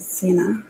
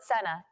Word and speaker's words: Sena: this out there sorry in Mass I pronounce it Cena so I apologize for the pronunciation being wrong just let this add